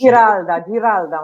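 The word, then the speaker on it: Giralda: The room is actually spelled it's spelled with a G. Geralda. It's Geralda, Maria.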